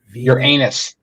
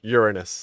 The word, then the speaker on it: Uranus: following along at home your anus yes Uranus is that's the wrong way to say it sir that's not how